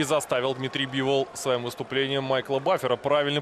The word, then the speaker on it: Бивол: но и заставил дмитрий бивол своем выступлении майкла бафера правильно произносить свою фамилию наконец то что до этого баффер ставил ударение на последний слог даже во вчерашнюю на